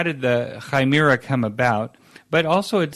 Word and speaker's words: Chimera: So I saw an article that you wrote this month called the Chimera. That's how I learned from you how to pronounce it.